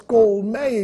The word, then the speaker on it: colmeia: Sabia que apenas no Brasil as palavras colmeia e centopeia são pronunciadas com timbre aberto?